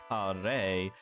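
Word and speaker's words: 華麗: So she mistook the characters, which are pronounced kare, and means something like splendid or gorgeous, or the Japanese word kare, which means curry.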